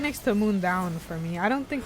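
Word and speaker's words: Mundaun: So I had always been saying Mandan just because I didn't know how to say it. And then you get into the game and immediately the guy in this language is like, I'm heading up to the mountain, Moon Down.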